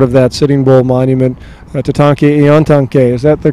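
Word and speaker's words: Tatanka Iyotake: And here's a part of that Sitting Bull Monument, Tatanke Iontanke. Is that the correct pronunciation?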